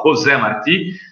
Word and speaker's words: José Martí: Eu não sei o endereço, mas se eu colocar, se escreve José, mas se fala José Martí, que foi um dos líderes da independência de Cuba, tem um centro aqui em Santos.